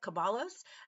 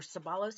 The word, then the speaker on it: Ceballos: But today we're going to see Joseph Ceballos, or Ceballos, I think is how they pronounce it.